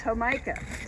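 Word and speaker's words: jamaica: say it right heim how do you say it hamikah homica it's homica and let's get a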